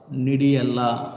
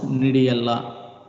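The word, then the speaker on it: gnidiella: Cryptobulbus nidiella. I am not pronouncing G. In a species, first letter is G. We should not pronounce the G. We have to pronounce nidiella. Cryptobulbus nidiella.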